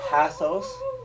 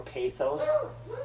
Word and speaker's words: pathos: Now, you can say pathos or pathos, logos, you can't say logos, or you can say ethos or ethos.